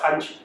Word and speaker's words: Khanchi: No, some people say ganja, don't do that. Ganchi. Hey, bro, could pronounce it?